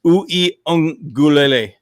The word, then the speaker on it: Uiagalelei: This is the exact pronunciation of his name. It's Uiagalelei. Yeah, I ain't gonna remember that, dude. Uiagalelei.